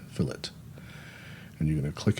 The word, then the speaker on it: fillet: That's the way that's pronounced. Filit, not filt, fillet.